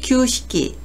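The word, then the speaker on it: 旧式: 음독은 규라고 읽습니다. 구식을 규식기, 규식기라고 하고요.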